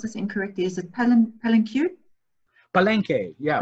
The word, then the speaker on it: Palenque: Elise is asking me, do you go to, and I'm probably gonna pronounce this incorrectly, is it Palenque? Yeah, Palenque.